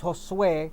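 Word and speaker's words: Josué: Well, my actual name is Josue. It's Josue. That's Spanish. Josue, Josue. Josue. In English, you would pronounce it Josue.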